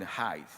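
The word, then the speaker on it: Haidt: This shift professor hate or some people pronounce it height once has contributed to rising anxieties, loneliness and fragility among our children.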